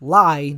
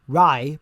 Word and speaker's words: Rai: Granted, it's actually pronounced Lai, not Rai, but whatever.